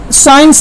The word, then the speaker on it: science: 3 number साइंस है, SCIENCE। आप किसी भी सी में किसी भी वर्ड में सी को आप हाइड कर लीजिए, कोई इफेक्ट पड़ने वाला नहीं है, सी साइलेंट है।